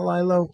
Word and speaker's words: Lilo: Since kind of right after that, we became very close, and Lilo's been a good, Is that the proper pronunciation of his name? Lilo, not Lilo? Yeah, it's Lilo.